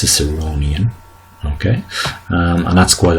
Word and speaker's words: Ciceronian: the um phic transcription you can see that the stress is on the third syllable so it's ciceronian okay um and that's